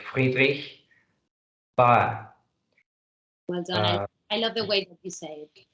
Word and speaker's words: Friedrich: pronounced like that and the name it would be Friedrich with this kind of uh sound you know can you